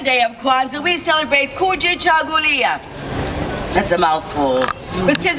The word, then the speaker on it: Kujichagulia: Kuji. Chagu. Lia. One more time. Kuji. Chagu. Lia. Now put it all together and think of a conga. A Kuji Chagu Lia. A Kuji Chagu Lia.